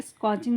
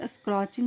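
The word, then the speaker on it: scorching: इट वॉज यानी यह था, सच स्कॉचिंग मतलब कि एक स्कॉचिंग मीन्स क्या होता है, इसे स्क्रॉचिंग नहीं बोलेंगे, आर साइलेंट है.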